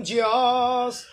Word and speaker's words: Diyos: Tutulungan ka ng Diyos. Diyos. Pwede rin ganon. Tutulungan ka ng Diyos. O, Dio. Diyos. Letter O yan. Di yan letter U.